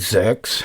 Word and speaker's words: SearXNG: So it's called Xerx. I think that's how you say it, SearXNG, and they've got a Docker version, which is perfect.